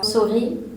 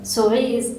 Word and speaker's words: souris: What's a French word that ends in S but that you don't pronounce that last S? Souris, which is mice, like mice, mouse, and mice. Yeah. Souris it's exactly the same thing.